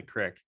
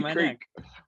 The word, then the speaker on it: creek: right a crick man i'm a creek man because that's the way it's spelled no man that's something i get in my neck not that i by it that's right yeah exactly i gotta go i say creek yeah i say creek